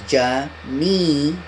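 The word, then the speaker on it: Geminio: Just pronounce it as Jamino.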